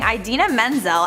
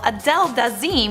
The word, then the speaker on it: Idina Menzel: Next at number 4, we have John Travolta mispronouncing Idina Menzel at the Oscars. Idina Menzel was set to perform Let It Go at the Oscars in 2014. For whatever reason, John Travolta called Idina Menzel Adele Dazeem when he was introducing her.